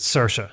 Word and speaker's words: Saoirse: Like apparently, Saoirse Ronan, like I think most people would pronounce her name Saoirse. Yeah. In most parts of Ireland, but she pronounces it Saoirse.